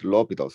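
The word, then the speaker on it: L'Hôpital: the famous rule called lobitals Rule and this is Lupita through because it's a French name so we prefer not to call it our hospital or whatever pronunciation we might have it's a quite nice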